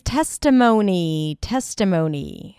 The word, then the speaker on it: testimony: You start with a T sound, then it's the E as in red. Te, close it with an S. Tes, and then T, schwa, T. Testa, mo, O as in go.